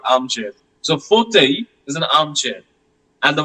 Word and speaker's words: fauteuil: It is fauteuil. Fauteuil. The last L is not pronounced.